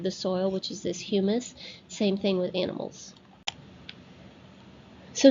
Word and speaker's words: humus: In some of those horizons is something called humus, not hummus. Hummus is what you eat, and it's spelled differently. This is humus.